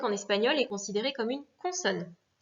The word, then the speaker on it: español: Exemple, professor, espagnol. D'accord? Donc là, c'est sor et ñol qui sont accentués.